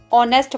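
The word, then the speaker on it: honest: very ऑनेस्ट बहुत इमानदार जब कभी भी किसी स्पेलिंग में ऐड के बाद वह आता है तो एच साइलेंट हो जाता है इसलिए हम इसे ऑनेस्ट पढ़ते होंगे उससे लिपटते तो यह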